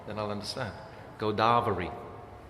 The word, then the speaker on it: Godavari: You have to say the first A is a long A, then I'll understand. Godavari. Godavari.